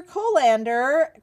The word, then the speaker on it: Kolander: Kolander graduated with honors from Northwestern College of Chiropractic.